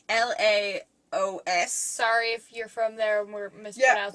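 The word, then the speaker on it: Laos: national dish of Mayo's I can't pronounce Leos it's la OS sorry if you're from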